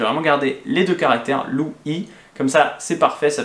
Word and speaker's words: Louis: Lu Yi c'était tout simple, hein, j'ai choisi parce que c'est exactement la même prononciation que mon prénom français Lu Yi.